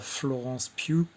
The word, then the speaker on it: Florence Pugh: Euh, et pareil pour Florence Pugh. Alors, on dit bien Florence Pugh. Je me suis renseigné, malgré que ça s'écrit P-U-G-H, donc Florence Pugh, qui était l'actrice principale